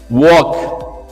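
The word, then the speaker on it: walk: सो for example वॉक. So here L is getting silent there.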